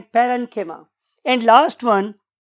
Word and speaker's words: parenchyma: कोलेन्काइमा भी बोलते हैं, बट the true pronunciation is कोलेन्किमा एंड पेरेन्किमा।